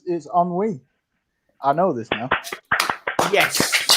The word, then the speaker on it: ennui: It's ennui.